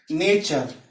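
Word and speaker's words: nature: अगर शब्द में टी के बाद यू आर ई दिया हो, यानी कि यू आर ई आए तो उसका उच्चारण च हो जाता है। जैसे नेचर मीन्स प्रकृति, टी के बाद यू आर ई आया यानी कि नेचर प्रकृति।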